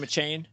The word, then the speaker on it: Achane: Is that how you pronounce his name, Achane? Yes, Evan Achane, yep.